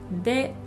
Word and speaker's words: で: It's pronounced as you have already heard, de.